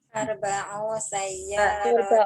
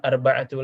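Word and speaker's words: أربع: Arba'u sayyaratin. Ahsan, ya. Arba'u sayyaratin. Bukan arba'atu lagi, tapi arba'u. Karena mu'annas. Kemudian ini khamsu akhwatin.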